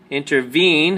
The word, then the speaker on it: intervene: Okay, intervene has 3 syllables. In, ter, vene. And the emphasis or stress is on the 3rd syllable, vene. So we say intervene. Intervene.